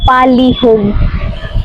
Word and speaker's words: palihug: In Visaya, you will say it palihug. Palihug. Simply pronounced pa li hug.